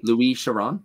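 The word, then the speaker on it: Louis Chiron: this um Louise Sharon I'm gonna assume that it's it's pronounced a little bit different than Lewis Chiron yeah you said it a little French so I Luis Sharon yeah yeah yeah yeah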